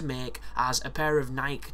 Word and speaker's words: Nike: as a pair of Nike trainers do, or Nike if you're American. Which I've never understood, because there's no accent above the E, so why the fuck would we pronounce it like that?